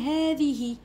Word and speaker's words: هذه: نفس الشيء هذه، هذاني، أولئك هؤلاء كلها عندها مد لفظا. وشنو معناتها؟ معناتها ننطقوها لكن لا نكتبها.